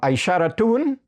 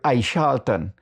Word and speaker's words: Aishara: And then we have um Aisharaun in the Wapishan language that has been distorted to Aishaltton but actually the word is Aishara.